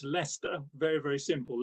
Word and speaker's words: Leicester: uh thank you very much and yeah it's pronounced leicester very very simple leicester so uh yeah well a bit like my